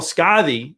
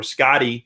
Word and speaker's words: Skadi: Skadi being a great example, or Skadi, depending on how you say it.